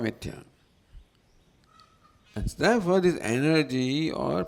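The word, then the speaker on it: मिथ्या: Mithya you can say at the most, as Swami would say. Mithya will pronounce as something else, Westerners will pronounce it as something else.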